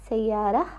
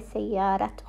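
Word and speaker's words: سيارة: Sayara. We didn't say sayarat because the letter R has no vowel on top of it, so we are going to pronounce it as a ha, not a ta.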